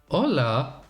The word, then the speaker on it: Hola: Yeah, you quit the pronunciation on the H and you have it. Hola?